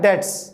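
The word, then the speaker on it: debts: Form क्या है, बैड डेट्स। बी भी साइलेंट है, बैड डेट्स बोलते हैं इसे।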